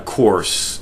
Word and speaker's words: corse: who's feeding on a corse. And when I say the word corse, C-O-R-S-E, I'm just using the archaic pronunciation of the word corpse that we all know, C-O-R-P-S-E. I'm just an old school kind of guy.